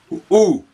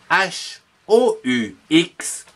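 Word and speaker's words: houx: Le ou. H-O-U-X, hou.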